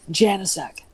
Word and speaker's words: Janasek: do you pronounce it well i'm from wisconsin so a lot of people from poland in the area that my husband's father's ancestors are from settled there so it's it's i already knew it when i met him i knew it i knew how to do it it's janasek janasek okay fair enough i